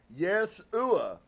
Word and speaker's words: Yeshua: to get it correctly it was phonetically yes oua with the strong accent on the first syllable so Dolores says to